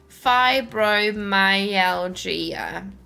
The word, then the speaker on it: fibromyalgia: Yeah, but don't pronounce the G as much, more of like a J. Hang on. Where is it again? Where is it? Fibromyalgia. Fibromyalgia. Like that.